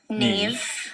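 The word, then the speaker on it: Niamh: Does anyone know how to pronounce that in the audience? Tig. How? Tig. Tig? Yeah. Neve. What? Neve. Nave?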